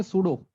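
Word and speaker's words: pseudo: और सूडो, एक तो ये पता नहीं इसकी स्पेलिंग एन स्टार्ट क्यों होती है पी से, है ना?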